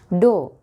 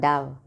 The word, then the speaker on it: dough: Dough, dough. It's not dove, dough.